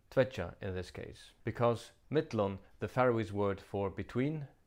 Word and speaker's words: millum: in this case, because mittlon, the Faroese word for between, traditionally takes the genitive. Notice also that the double L is pronounced DL.